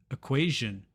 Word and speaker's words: equation: We have information, shin, and equation, jin.